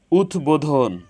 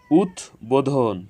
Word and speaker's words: উদ্বোধন: উদ্বোধন, উদ্বোধন, এখানে উদ এর সাথে বফলা যুক্ত হয়েছে, এজন্য বফলার উচ্চারণ অবিকৃত হয়েছে।